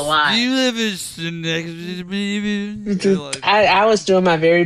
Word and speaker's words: Schenectady: What about Schenectady? How do you say it? Schenectady. Schenectady.